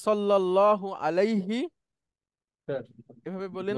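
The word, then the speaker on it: عليه: এজন্য ছিল মূলত আলাই হু, কিন্তু এটা ব্যবহার হয় না বা ওইভাবে বলাও হয় না, বলা হয় আলাই হি।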